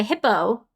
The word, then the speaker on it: Hippeux: Like, for example, there's a hippo called Hippo, but it's spelled Hippeux. Hippo. Or it might be Eaux. Which is, that's just the word hippo, but spelled in a sort of pseudo-French way because the villagers, like,